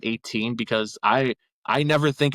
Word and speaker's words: X8: Um, are you in the same boat where X7 is pronounced as X7 and X8 is pronounced as 18? Because I I never think of it as Wrestlemania X8.